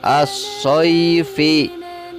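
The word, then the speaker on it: الصَّيْف: Ditulisnya as-soifi. Ketika wakaf maka dibacanya menjadi as-soif.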